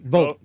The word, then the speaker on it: Vogt: Vogt.